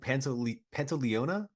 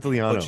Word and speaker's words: Pantoliano: Joe Pantoliona, Just call him Joey Pants. Joey Pants. Yeah. Oh man, I butchered Pantoliano.